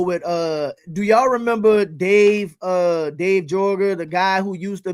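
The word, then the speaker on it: Joerger: do y'all remember Dave Jorger, the guy who used to be, I think it's Yeager is how you pronounce it, Dave Yeager, who was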